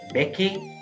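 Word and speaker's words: Bacchae: तो बेकी ही है, 2 प्रोनाउंसिएशंस आपको मिल जाएंगे, कहीं से भी ढूंढेंगे, एक बेकाए और बेकी। बेकी ज्यादा अच्छा है अगर यूनानी टर्म्स में देखा जाए, जिस तरह वो बोलते थे इस तरह के लफ्जों को।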